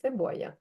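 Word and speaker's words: cebolla: Себоя. Себой. Себой. Сі. Себоя. Подвійна л. Читається як ї.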